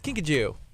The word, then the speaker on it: kinkajou: You don't have a Kinkajou?